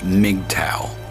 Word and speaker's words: MGTOW: that group, but still, even I know it's pronounced MGTOW.